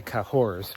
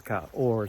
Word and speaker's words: Cahors: today to c c in English we say kahor but in French it's Kor you drop the H it's 16 miles nothing